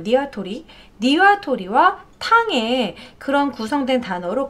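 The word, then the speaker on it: にわとり: 왜냐하면 국립국어원에서 표준국어대사전에 따르면 닭도리탕은 닭에다가 가운데 니와도리, 니와토리죠. 정확히 발음은 니와토리, 니와토리와 탕에 그런 구성된 단어로 가운데 니와도리가 일본어기 때문이다라는 거죠.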